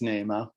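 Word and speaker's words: Nahma: And then in the Upper Peninsula, they mentioned that they pronounce it with a long A, not a soft vowel sound. So I'm assuming it would come out Nama rather than Nama. It is Nama.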